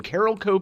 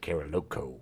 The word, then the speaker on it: Carolco: saw a lot of it's definitely carolco Carol Co but I was was like carolo uh Carol Co was